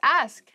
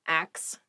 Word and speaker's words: ask: the next word is ask ask please pronounce this correctly it is not ax many native speakers make this pronunciation mistake and it really bothers me ask ask me about